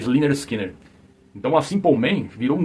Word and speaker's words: Lynyrd Skynyrd: do primeiro disco né pronoun pronuncia eh linner Skinner então a simpleman virou